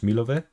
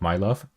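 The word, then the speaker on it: Milove: Area and 2000 towards milova which according to a comment is how you pronounce this city Village of what I earlier called my love which I prefer as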